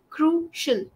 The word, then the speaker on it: crucial: into consideration so much it's pronounced like shl crucial crucial crucial yes perfect you